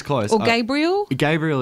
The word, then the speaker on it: Gabriel: Gabriel is it, and it's a really hard one to pull people up on. I hate to have to emphasise that first syllable.